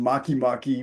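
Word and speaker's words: Makemake: And Maki Maki, which is spelled make make those the like just like writing make next the two words next to each other as one word.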